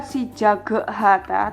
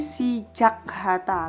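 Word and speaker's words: 시작하다: berubah ke bentuk kedua bukan sijaga Hatta tapi sijak Hatta langsung seperti itu ini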